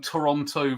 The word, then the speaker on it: Toronto: a bit like um Toronto versus Toronto or pronounce is it like the second T you you you show you're a tourist if you pronounce the second t or something actually there